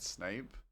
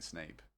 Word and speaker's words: Snape: I got into a fight with my cousin because he was convinced Snape was pronounced Snap when we were kids.